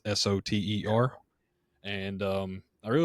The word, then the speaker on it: Soter: It could be coming out soon, but it's the Spartan Knives Soter. I think that's how you pronounce it. It's Soter.